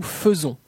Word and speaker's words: faisons: Les lettres AI du mot faisons se prononcent comme un E. Nous faisons, nous faisons.